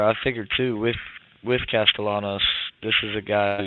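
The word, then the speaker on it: Castellanos: drive here to start how do you pronounce Boston College the quter back's last name Thomas castalanos that's what I figured but I was saying castanos I was like what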